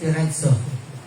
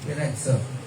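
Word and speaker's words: πειράζω: So ang pronunciation niyan ay nakasulat siya na piraso pero ang pronunciation niya is piratso. Merong e. Piratzo.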